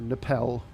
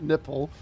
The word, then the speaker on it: NIPEL: do the nipple, or Nipel. I think that's how you pronounce that. Not nipple, Nipel, which is then back down to 360.